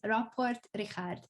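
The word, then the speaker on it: Rapport Richárd: and you are Hungarian, so I always say Richard when I'm doing an English coverage, but in Hungarian his name is Rapport Richard.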